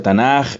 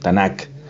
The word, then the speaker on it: Tanaj: el acrónimo y bueno en castellano a veces se pronuncia tanaj y le han puesto por decirles algo esto tanak entonces e esto es el